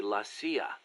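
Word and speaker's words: la CIA: They say Lassia instead of CIA. Huh. Um, nothing strange about it. That's how it's pronounced when you read it in Spanish.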